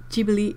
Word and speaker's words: Ghibli: Otto is saying that it's pronounced Ghibli in Japanese.